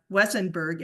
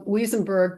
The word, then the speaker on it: Weisenberg: new member uh wesenberg am I saying your last name right it's um weisenberg but I'm both my